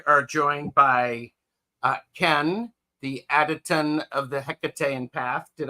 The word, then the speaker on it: Hekatean: Well, Ritchie and I are joined by Kenn, the Hekatean of the Hekatean Path.